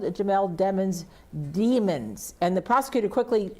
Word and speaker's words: Demons: heard demons and demons apparently the name is pronounced demons but there have been several times in which